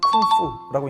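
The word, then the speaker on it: 工夫: 자, 그러다 보니 공부를 중국어 발음으로는 쿵푸라고 읽는다고 합니다.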